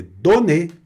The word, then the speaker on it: donner: Então, com a repetição do N, você também não anasala a pronúncia. Então, fica donner, olha aí, não donner, é donner, que é o verbo dar, sonner, que é o verbo tocar.